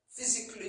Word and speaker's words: physically: Dans tout ça, le Kali, c'est le C-A-W-L-L-Y. Le A ne se prononce pas. Physically, artistically, comme vous voyez sur la liste.